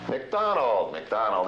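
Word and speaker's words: MacDonald: I'll spell them for you, and I want you to give me the correct pronunciation. Number 1, M-A-C-D-O-N-A-L-D. McDonald, Groucho. McDonald, absolutely correct.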